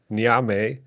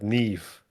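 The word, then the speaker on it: Niamh: said the name the same way you did, Nyame, but it's actually how you pronounce it is Ne. It's an It's funny. It's an Irish, like an old Irish name or whatever. So she's actually called Nev.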